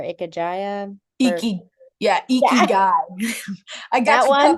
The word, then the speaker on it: Ikigai: And I'm going to try to pronounce them and it's going to be terrible. I think it's Ikajia or Ikajaya for, Iki, yeah, yeah, Ikigai.